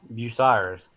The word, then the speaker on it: Bucyrus: Okay, Bucyrus. Yeah, is that how you Yeah.